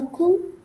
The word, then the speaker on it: coup: With coup, because there's no E, so you can't pronounce the P.